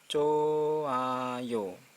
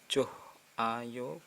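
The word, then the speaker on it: 좋아요: selanjutnya ini Hai roti ininya Tak Dianggap jadinya choayo choayo bukan johayo bukan Hai tapi hanya hilang choayo terus sini ada ha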